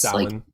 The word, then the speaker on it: Samhain: I don't know specifically how to pronounce the Halloween. It's Samhain.